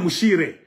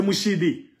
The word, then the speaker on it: M'Siri: Tu vois, on l'appelait même Mouchire. C'est Mouchidi. Les Blancs l'appelaient selon leur intonation. Les Portugais, les Américains, les Anglais, les Belges, Moussiri, Mouchiri, Mouchire. Tout le monde l'appelait selon la prononciation de leur langue.